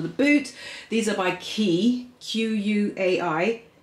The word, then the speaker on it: Quay: These are by Quay, Q-U-A-I. I think it's pronounced Quay though.